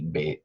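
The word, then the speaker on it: בית: Now Beth, that's pronounced B-A-T-E, Beth.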